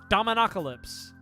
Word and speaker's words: Dominocalypse: It's just domino but then apocalypse at the end. Dominoalypse.